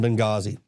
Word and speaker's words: Benghazi: The H is silent in Benghazi.